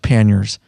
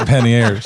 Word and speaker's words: panniers: ears yeah we put some pan it's actually pronounced panniers and they look it up it is that's fine but when you're from Southern Indiana it's pennies it's a pantier the French are cursing you